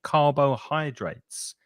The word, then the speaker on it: carbohydrates: of syllables in it the middle syllable oh we don't say oh we say uh Kaaba Kaaba and then the other one is many people want to say hidrates but it's not it's